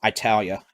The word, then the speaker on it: Italy: to italy to milford i said italy oh no italia uh-oh i mispronounced it chelsea's gonna be mad i mispronounced it it's not italy i don't think this